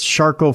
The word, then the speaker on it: Charcot: I've torn ligaments and tendons, 13 herniated discs, Charcot foot. Look it up. It's very French and very rare. It's spelled char as in charcoal, and cot, like a thing you lay on.